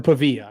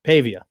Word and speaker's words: Pavia: Or Pavilla.